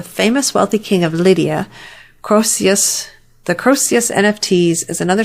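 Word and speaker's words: Croesus: to pronounce this and i'm going to say it's croissus but i may not be right on that the nft's divisor named after the famous wealthy king of lydia crocius the crossius nfts is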